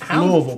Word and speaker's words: Louisville: Bert from Louisville says, Louisville, pronounced correctly.